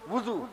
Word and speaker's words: وضو: صحیح تلفظ کے وضو، واو کے پیش.